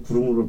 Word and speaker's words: 구루무: 그러고서 이 북을 걸을 때마다 둥둥거리면서 구루무를 팔았어요. 이게 그러니까 크림. 그걸 구루무라고 얘기했던 게 이제 일본 이제 크림을 이제 그 구루무라고 발음을 해서 구루무라고 얘기해.